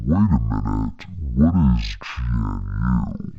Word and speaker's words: GNU: But wait a minute, what is GNU? It's pronounced GNU and it's a project that predates